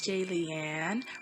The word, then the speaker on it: Jaylian: am blaming hey it's jay leanne rhymes with alien like if you're a